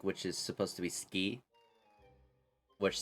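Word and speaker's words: 好き: is supposed to be ski, which sounds like skiing. It's actually the characters for s and ki, but they pronounce it as ski.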